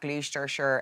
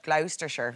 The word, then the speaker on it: Gloucestershire: can't just keep which isn't scaring pigeons at gleester sure airport let's should we go for that again gloucestershire gloucestershire yeah the first time i've ever been